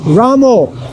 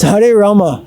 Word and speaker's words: Rama: It's Hare Rama. Rama. So we should chant taking the correct pronunciation and don't imitate our Bengali brothers.